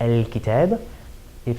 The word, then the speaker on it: الكتابِ: So if we were talking about a definite noun like al-kitab, if it were majroor because of something that happened in the sentence, it would have one kasra on it.